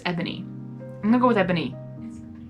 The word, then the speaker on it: Ebony: Because it's E-B-O-N-Y. Okay. Yeah. It does sound like Boney, or spelled kind of like that, but...